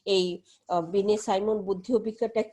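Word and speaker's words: Binet: তো সে Alfred বিনেট। তো আমরা বানানটা হলো বিনেট, কিন্তু আমরা ইংরেজি নামই, ওটা ফরাসি নামগুলি হলো একটু অন্যরকম থাকে, তার যে আমরা বাংলায় বলি বিনে।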